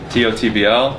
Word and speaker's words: TOTBL: TOTBL, pronounced Tot. The B and the L are silent.